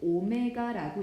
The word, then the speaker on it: 오메가: w가 아니라 수학에서는 오메가라고 읽습니다.